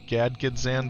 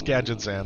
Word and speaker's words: Gadgetzan: Gadgan used to pronounce it Gadgzan back in the day, too. Gad Gadget Xan. Yeah, it's Gadgetzan.